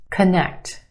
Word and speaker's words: connect: Connect. Two syllables. Emphasis where? On the second syllable. The e sound. Connect. First syllable becomes the schwa. C- c-. Very quick, unemphasized. Uh schwa sound. C- connect. Connect.